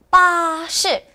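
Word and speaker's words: 巴士: 우리 중국에서도 외레 사용합니다 뭐라 할까요네 파시라고 합니다 빠시 따라 읽어 볼게요네 발음이 버스랑 매우 비슷하죠 우리나라에서는 버스라고 하고 중국에서는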